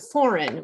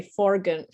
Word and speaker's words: foreign: they are not pronounced and foreign we don't say foren I can't even say